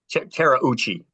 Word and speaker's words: Terauchi: Terauchi. Yeah, that's how you pronounce his name.